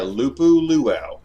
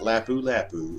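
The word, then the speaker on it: Lupu-Luau: got the UH the loop ooh luau IPA by dogfish Head I'm are you pronouncing that right yeah loop ooh luau not lapu-lapu it's loop ooh ooh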